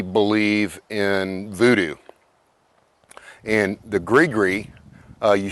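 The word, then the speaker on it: gris-gris: is they absolutely believe in Voodoo and the Greer uh you spell that g r i s g r i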